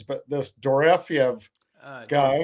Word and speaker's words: Dorofeyev: And I am bad at pronunciations, but this Dorofeyev guy, Dorofeev. Dorofeyev, Yep.